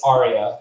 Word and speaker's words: Arya: It's Arya. Like, if you ever seen Game of Thrones, it's said exactly the same way.